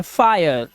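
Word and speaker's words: fire: अब देखिए जब किसी वर्ड में आई के बाद आर ई आ जाए तो आई का उच्चारण आय हो जाता है। आय ठीक है? इसी तरह से यह है फायर।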